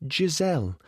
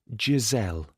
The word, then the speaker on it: Giselle: Now, tell me, who is Giselle? She pronounced the G like J in Jemima.